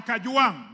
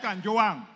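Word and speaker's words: Kajwang': Speaker, first of all, pronounce my name properly. I'm not Gachagua. I am Kajuang, not Kanjuang.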